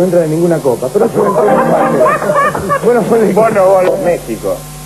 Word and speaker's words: México: de ninguna copa pero México la x se pronuncia J ahí sí y no